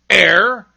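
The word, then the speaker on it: heir: Other words that begin with silent H are honor, air, and honest.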